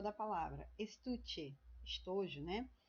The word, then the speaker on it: estuche: Estuche, estojo, né? Então, ó, estuche. Então, esse tu aqui, ó, é a minha penúltima, né, sílaba. Adorno, ó, a mesma coisa.